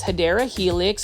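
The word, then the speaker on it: Hedera helix: here is a beautiful heedra helix or what you call the correct way to say it is hideera helix and this one is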